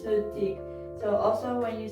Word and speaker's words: 스틱: it in korean in korean you cannot have two consonants following each other so stick gets changed into su thick because they cannot pronounce the s with the t they need to uh between it's so thick so also when you